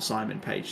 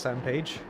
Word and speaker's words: Sam Page: As I correct myself, Samuel Page, not Simon Page. See? Third time in the space of, 5 minutes? He'd start reading names. I didn't even pick up on that either. See, I know it's Sam Page.